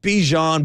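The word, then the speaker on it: Bijan: ball shout out to bajon Robinson who apparently doesn't say his name like dejon mustard bejan bejan doesn't matter we're taking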